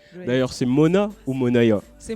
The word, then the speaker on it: Moonaya: D'ailleurs, c'est Mona ou Monaya? C'est Mounaya. Monaya. Oui, ça se prononce Mounaya.